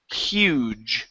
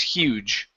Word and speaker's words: huge: Let's go to uh the word huge right here instead of hug. Okay. The word is huge.